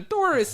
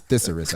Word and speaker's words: thesaurus: You got the Taurus in his pocket. I don't even know if I said it right. He knows if I said it right. He knows. Thesaurus. It's thesaurus, actually.